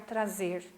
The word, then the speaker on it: trás: A pronúncia é igual, né? Não tem diferença na hora de falar. Traz com S e traz com Z. Não tem diferença, né?